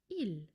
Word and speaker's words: ils: a group of women and men, we say ill without the s. By the way, you don't pronounce the s.